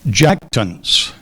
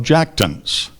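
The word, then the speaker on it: jactance: r i l i n g a l jackon jackon Justin's undue pride in his modest accomplishments takes the form of jackton jackton jackon are there any alternate pronunciation there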